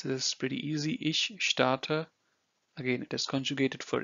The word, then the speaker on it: starte: You pronounce this as sh of show.